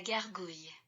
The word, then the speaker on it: gargouille: And this is what it sounds like. La gargouille.